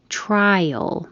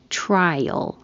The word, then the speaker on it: trial: Trial. The I before the A, you only hear the I. Trial, as in free trial.